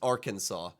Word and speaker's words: Arkansas: like Arkansas and Kansas if you take away the are in Arkansas they should both be pronounced the same way but one is pronounced Kansas the other is pronounced Arkansas so why is it